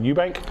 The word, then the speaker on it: Eubank: Eubank? Eubank. Yeah, Eubank. You said it right the first time.